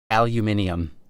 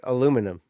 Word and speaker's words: aluminium: got the English right this one's really weird to me aluminium guess what yeah it's aluminum guess what the original pronunciation of aluminium the farthest dated back pronunciation of that word was aluminum like how we pronounce it like how we pronounce it aluminum yeah the guy who